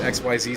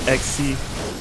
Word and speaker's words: Xyz: didn't mess around with xyz summons and synchro summons on any of that uh dan it's not xyz it's pronounced xc i don't care how